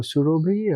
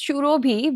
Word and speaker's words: Surobhi: Should I call you as Surabhi or Surobhi? Or I mean, it's Shurobhi, but it's not how it's pronounced, let's say, in anywhere outside of Bengal.